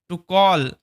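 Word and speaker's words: talk: আচ্ছা সুতরাং দা Fox decided ওই যে শেয়ালটি সিদ্ধান্ত নিয়েছিল টু কল ডাকতে আ নাম্বার অফ মানে বেশ কিছু ফক্স শেয়ালদের এন্ড এবং টক এখানে এল সাইলেন্ট টক টু দেম এবং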